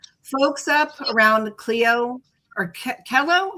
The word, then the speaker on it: Clio: Folks up around Clio, or Kello? How do you say that? Cello? CeeLo.